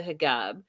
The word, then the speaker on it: hijab: The uncle says, why is she not wearing a I'm saying it right, hijab, right?